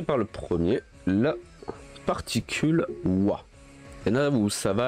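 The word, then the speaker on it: は: Alors, la particule wa se prononce justement comme ceci, mais qui s'écrit ha et qu'on prononce wa.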